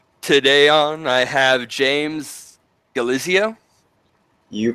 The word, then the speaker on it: Galizio: the mad monarch today on I have James galizia you pronounce it as that is right as most